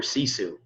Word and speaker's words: Sisu: before, but the company we use is called Sisu now. Can you spell that for us?